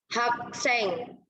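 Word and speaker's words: 학생: Kemudian ini, Hakseng. Nah, yang tadi kakak udah bilang G itu kan pelafalannya ada k-nya gitu kan. Jadi ini bacanya hakseng gitu ya teman-teman.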